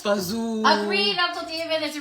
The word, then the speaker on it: fagioli: It's pronounced fazoo.